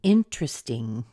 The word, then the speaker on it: interesting: say ding okay a little tiny e being interesting the truth is the the sound of an